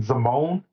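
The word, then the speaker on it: Zimone: that's how you say her name, Zamone.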